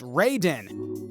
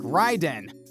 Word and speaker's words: Raiden: start out with raiden which is pronounced reiden even though it should be pronounced like ryden raiden is regularly depicted